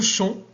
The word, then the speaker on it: champ: Le champ, c'est P.